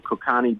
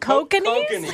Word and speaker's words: Kokanee: We got some Kokani beer. Oh, Kokanee? Kokanee, you mean? Kokani, whatever. I don't know. Is that how you pronounce it? Yeah, kokanee.